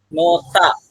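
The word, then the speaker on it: 놓다: Oke anda perhatikan ini tulisannya adalah nohda tetapi anda membacanya adalah Noa Kenapa nota Kenapa nota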